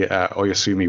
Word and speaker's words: Oyasumi: So we did a book swap, and you gave me Oyasumi, which I read and reread, and you have.